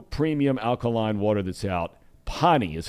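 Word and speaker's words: Pahhni: Pani is how you pronounce it.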